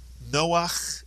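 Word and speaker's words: נח: The first syllable is no. The second syllable is ach. Put the word together. Noach is correct.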